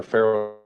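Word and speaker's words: FARO: is a screenshot I took from uh, our Pharaoh software in order to determine an accurate measurement of uh, how far the items were from uh, where the victim was. You mentioned the Ferro software.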